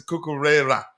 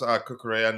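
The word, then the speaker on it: Cucurella: way Rodrigo I had I used to pronounce kukura and he told me he was pronounced kukura not Kera uh and already we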